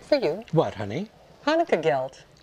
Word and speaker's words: gelt: Hanukkah gelt. Gilt? It's Hanukkah gelt. It's Hanukkah gilt. Gelt. Gilt. Gelt. Gilt. Gelt. Spell it. G-E-L-T. Gelt. Gelt.